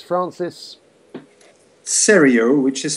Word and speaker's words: Seriau: clear just spell the surname so it's Francis cereal which is spelled s for Sierra e-r-i-a-u super so it's